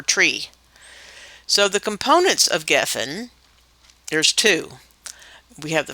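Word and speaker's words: גפן: It's spelled gimel, pei, nun, geffen. The pei sounds like a P or an F, and it's Strong's number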